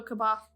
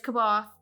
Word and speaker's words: C'baoth: No, C'baoth. It's C'baoth. It's spelt C'baoth.